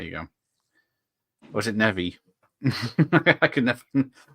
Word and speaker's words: Neve: go or is it nevi I could never i' never heard it back in the 90s I used to call apparently it's pronounced Nev yes I went from